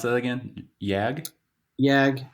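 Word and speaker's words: Jagd: you pronounce that again yag yag it's it's really yak if you go like if you want to say it like German weight what what it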